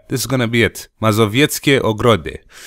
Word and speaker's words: Mazowieckie Ogrody: Mazowieckie Ogrody. God, it feels strangely natural pronouncing it that way, because it's kind of what some Romanian sounds are like, so not that difficult.